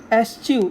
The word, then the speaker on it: eschew: क्या है, एस्च्यू, इसका प्रोनाउंसिएशन एस्च्यू है, तो इसका मतलब होता है अवॉइड करना।